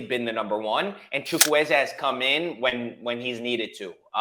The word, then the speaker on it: Chukwueze: But anyhow, do you think there's any risk, putting injuries aside, Samuel Chukwueze, that's how you pronounce it, correct? Chukwueze, yep.